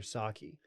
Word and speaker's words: sake: a sake guy you were saki well i think i think that i think saying sake is incorrect so i didn't want